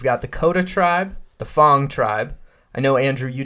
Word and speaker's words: Fang: We've got the Coda tribe, the Fong tribe. I know, Andrew, you didn't like the fact that it's spelled like Fang and is pronounced Fong.